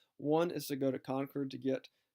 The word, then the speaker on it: Concord: Concord today my people would say that's a mispronunciation but Concord Massachusetts that's how it's pronounced he is going